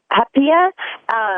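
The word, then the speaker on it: haupia: And the thing I really, really love is, I'm probably going to pronounce it wrong, because they say it is hapia, which is like a coconut dessert.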